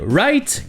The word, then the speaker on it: Wright: courant pour dire artisans se prononcer exactement comme le verbe to write écrire les w et le g h i ci sont muets et on enchaîne quasiment